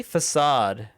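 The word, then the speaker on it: façade: How do you even pronounce the weird C? Facade. Isn't a facade the right way?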